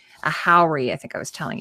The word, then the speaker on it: haori: kimono over top, and it is called a haori.